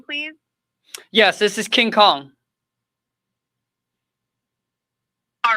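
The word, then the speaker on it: Khang: No, my first name is Kong, and it's spelled as K-H-A-N-G. It sounds like Kong, but it's spelled as K-H-A-N-G, and my last name is King, K-I-N-G.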